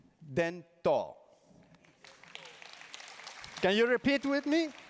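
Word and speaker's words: 伝統: the first first word is tradition and it's pronounced then tall can you repeat with me then tall okay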